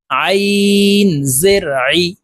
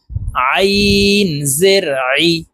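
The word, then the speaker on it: عِ: আইন জের আই, হলকের মধ্যখান থেকে চাপ দিয়ে এই আইন হরফের উচ্চারণ করব। আইন জের আই, আইন জের আই।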